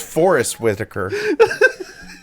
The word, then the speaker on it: Forest Whitaker: guess myself when I I say it it's Forest Whitaker so you were wrong on both of you